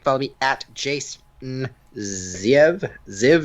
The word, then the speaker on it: Ziev: Zev is how it's pronounced, but it's Z.